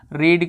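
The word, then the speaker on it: read: लेकिन देखिए एक चीज़ जान लीजिए, रीड जो लिखा जाता है, ठीक है, वो स्पेलिंग वही होती है, लेकिन इसका जो साउंड होता है वो चेंज हो जाता है, परफेक्ट में भी चेंज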